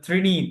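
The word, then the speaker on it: ত্রীণি: দ দ্রণী দ্রণি না তো এটা ত্রিণী ত্রিণী তরে ফালা রসতার তফটার ত্রিণী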